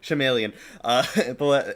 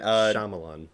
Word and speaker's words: Shyamalan: Night Shyamalan, I can't pronounce Shyamalan. it. Shyamalan. M. Night Shyamalan. Shyamalan.